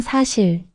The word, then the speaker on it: 사: 한국어 에서 숫자 ' 사 ' 는 ' 사 ' 로 발음 됩니다 .